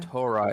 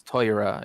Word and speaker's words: Torah: have things where like the letter O becomes the sound oi so it's like it's not Torah it's toyrah you know like for